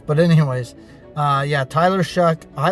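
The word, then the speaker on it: Shough: I found out how to say his name. It's Shuck.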